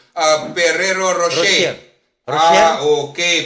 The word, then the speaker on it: Ferrero Rocher: Ano bang tama hindi nga pronunciation? Ferrero Rocher. Rochelle? Okay. Ferrero Rocher.